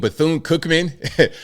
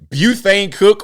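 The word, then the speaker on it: Bethune-Cookman: You mean Bthoon Cookman? Buthane Cook. What is that? Bthoon Cookman. HB.CU. I mean, I couldn't understand pronouncing, you know, um, uh, uh, Bthoon wrong, butane and then cook. There's It's Cookman. It's one word.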